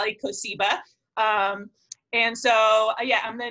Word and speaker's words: Kosiba: had no fault here I should've given you a primer on how to pronounce my last name everyone mispronounced is it but it's a Lika Seba and so yeah I'm